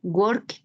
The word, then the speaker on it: worked: El segundo, worked, termina en T la pronunciación, está en pasado.